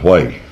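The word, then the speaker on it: Huế: unless you were there like Hue E spells way, you know.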